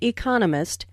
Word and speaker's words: economist: so it is emphasized there are four syllables in Economist with the stress on the second syllable Economist he just finished